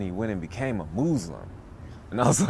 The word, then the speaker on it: Moozlum: is your first film muslim it's actually called muslim muslim you're supposed to pronounce the word uh muslim uh but i